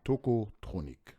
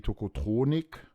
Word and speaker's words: Tocotronic: non plus tokotronic HM les prononciations sont différentes le bassiste dit tokotronic ouais le beaucoup de gens disent tokotronic et le chanteur je l'entends parfois aussi dire tokotronic à à l'anglais avec un petit ouais ouais à l'anglaise